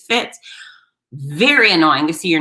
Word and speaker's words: Fitz: butchered my name so it was fritz no there's no r in my name it's four letters how do you screw that up f-i-t-z it fits very annoying to see